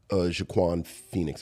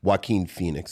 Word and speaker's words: Joaquin Phoenix: Russell Crowe is in Gladiator with Jaquan Phoenix. I never forget it. I always forget how to pronounce it. Joaquin Phoenix.